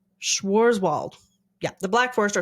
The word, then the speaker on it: Schwarzwald: It's Schwarzwald. Schwarzwald.